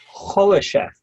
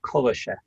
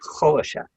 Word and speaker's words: Khrushchev: Khrushchev, not Khrushchev. Okay, thank you. Khrushchev. You've got to get the Russian pronunciation.